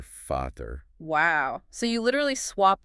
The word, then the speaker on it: Vater: And the German V. The German V, pronounced V, sounds like an English F. Like in Vater, father. Exactly. You hear Vater.